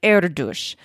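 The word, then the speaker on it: Erdős: And the mathematician that we discussed in episode 159 would probably pronounce his name more like Erdush, not the more Americanized version that we were using.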